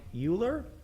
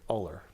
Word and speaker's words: Euler: I think it's Euler. I don't think it's Uller.